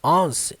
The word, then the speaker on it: once: Uma coisa aqui muito importante sobre a primeira palavra dessa frase, embora ela pareça que é once, não. Ela segue a pronúncia do número 1. One. Você só vai colocar o S no final. Once.